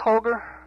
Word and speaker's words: Holger: Is it pronounced Holger? Holger Carlson, is that the way? Well, that's about as close as you can come in English, yes.